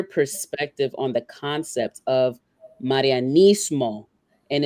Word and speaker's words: Marianismo: Roll your R's, right? So Marianismo. Break it down again. Just Marianismo. Yeah. Marianismo. Yeah. Think of Maria.